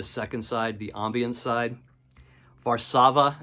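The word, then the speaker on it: Warszawa: side the ambian side varsava as they would call it it's how we pronounce it here I had to look it up online to see how you pronounce it here in America varsava the first track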